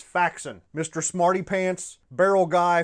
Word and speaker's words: Faxon: I no longer have to force myself to pronounce it Faxon. It's Faxon.